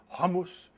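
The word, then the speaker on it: hummus: the matriarch tells me the proper way to pronounce this is hamus it's fantastic they're open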